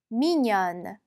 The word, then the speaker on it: mignonne: 여성형은 n을 더 붙여줍니다. 발음은요. mignonne. 네. 그리고 우리 발음에서 할 때 보시면 n이 붙으면 라자냐의 느 발음 난다고 했어요. 그렇죠? 그래서 mignon이 아니라 mignon처럼 읽어주셔야 되겠습니다. 자, 그러면 우리 이제 회화 표현 보도록 할게요.